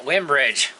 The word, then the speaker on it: Winbridge: it going welcome back we have another uh windbridge product i pronounced that right yeah winbridge we're doing good today all right yes we're